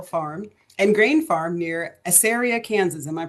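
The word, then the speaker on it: Assaria: So, Stephen Johnson was born and raised on a cattle farm and grain farm near Asaria, Kansas. Am I pronouncing that correctly?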